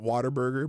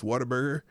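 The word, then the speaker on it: Whataburger: Texas that's big waterburger everyone pronounces it waterburger but it's waterburger um those are pretty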